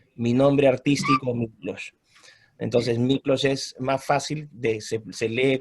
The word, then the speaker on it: Miklós: Entonces Miklós es más fácil, se lee como o sea, se pronuncia como se lee, Miklós, ¿no?